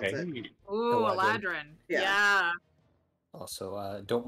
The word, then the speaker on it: Eladrin: He is a large Eldrin elf? I can't pronounce it. Hey, Ooh, Eladrin.